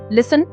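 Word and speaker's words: listen: Four लिसन T silent है।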